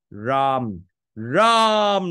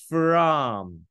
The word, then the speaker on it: from: ở đây không ạ Mình đọc là Where you from rom rom là không được đâu phải là from from from nha from có cái phờ đó nữa nhớ đó L